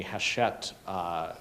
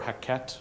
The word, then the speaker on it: Hachette: And if anybody's taken sides or bets on the Hachette controversy. Is it Hachette or Hackett? It's Hackett, isn't it?